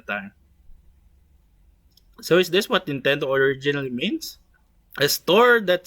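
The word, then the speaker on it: 任天堂: The other Japanese characters are pronounced Nintendo and constitute a fanciful expression having no precise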